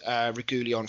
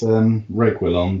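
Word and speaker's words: Reguilón: Although it is worth mentioning as well that you've also signed Regulion from Madrid, if that's how you pronounce it. Regulion. I'm not sure. I think it's Reguilon, but don't quote me.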